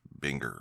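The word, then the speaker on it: Buenger: those things that happens it is spelled bu u e n g e r but it is not pronounced Bunger it is Binger or something along those lines it's an honest mistake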